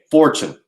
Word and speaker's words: Fortune: there he is for chine how do you say your last name correctly it's easier than you think fortune like fortune 500.